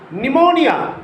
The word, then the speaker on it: pneumonia: Some words beginning with P remains unaccented, remains silent. Psychology, P-S-Y-C-H-O-L-O-G-Y, psychology. Pneumonia, it is the name of a disease. P-N-E-U-M-O-N-I-A, pneumonia.